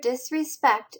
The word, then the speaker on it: disrespect: It shows the syllable that has the strongest stress.